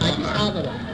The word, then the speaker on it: Addis Ababa: Okay, I can't pronounce it right. Oh yeah, Addis Ababa.